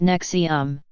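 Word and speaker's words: NXIVM: have enrolled in courses offered by as if pronounced nexium which the group says are designed to bring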